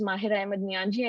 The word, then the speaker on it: Mahira Ahmad Niyanji: for having me uh my name is mahira ahmad niyanji and you pronounced it well so uh highly nonprofit